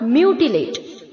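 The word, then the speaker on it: mutilate: Next है बच्चों, similar word है मैंगल का म्यूटिलेट, म्यूटिलेट। ओके, इसे हमें कैसे प्रोनाउंस करना है? एम के आगे जो यू है उसे हमें वाई डबल ओ की तरह प्रोनाउंस करना है, ठीक है?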